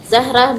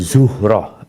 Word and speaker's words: Zuhrah: Mereka terdiri dari Bani Hashim, Bani Al-Muttalib, Asad bin Abdul Uzzah, Zahrah bin Kilab, dan... Bukan Zahrah, Zuhrah. Ini diperbaiki, Zuhrah.